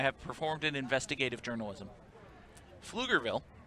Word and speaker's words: Pflugerville: Pflugerville, which is actually spelled with a silent P, is a city in Travis County with a population 61,737.